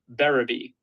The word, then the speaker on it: Berube: Yeah, so you're saying it wrong, but I usually just tell people they're saying it right, no matter what they say, because not many people get it right. It's difficult. It's Berube.